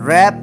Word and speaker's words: wrap: Some words have initial consonants which are not pronounced. For example, K in knife, W in wrap, etc.